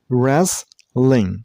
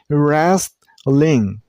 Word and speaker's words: wrestling: Wrestling. You should drop the T sound. You shouldn't make a T sound here. Not restling.